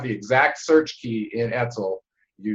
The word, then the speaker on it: ETCSL: I try to pronounce it as an acronym. Etzel. Etzel.